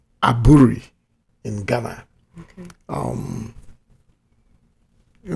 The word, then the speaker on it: Aburi: head of state then at a place called aburi in Ghana okay um you know my driver is from there so it's pronounce they call it Abri but AB r i call aburri they call